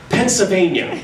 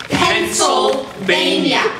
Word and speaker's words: Pennsylvania: L out of Pennsylvania please pronounce the L in Pennsylvania it certainly would be nice if you pronounce the state you live in properly Pennsylvania has an L in this assembly you say Pennsylvania Pennsylvania you pronounce it